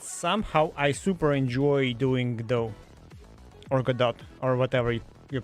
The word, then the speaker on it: Godot: I forgot his name, actually told that it's Godot. So I think community is right on that. He can like think whatever he likes, but if community mostly pronounces it as Godot, then it's Godot.